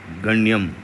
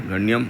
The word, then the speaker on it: गण्यम: ग्र गण्यम और ये ण आधा हो गया। गण्यम और व पे क्या लगा हुआ है?